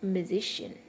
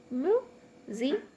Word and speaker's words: musician: Now look at the word musician. Musician. Musician. So musician. So SI is the third syllable from the end. So that's why we are stressing S.